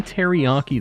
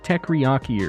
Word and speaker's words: teriyaki: Etc with the ETC he didn't say teriyaki though he said teaki or something like that he he really didn't pronounce that one correctly everything else he got